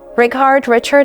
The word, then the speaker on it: Rickard: Richard, how should I call you? Oh, just Richard will do.